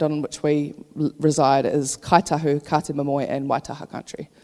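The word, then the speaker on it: Kāi Tahu: which we reside, is Kaitahu, Kate Momoe and Waitaha country. So you'll hear Ngaitahu. K is, the NG is pronounced K when you're talking from Kaitahu dialect.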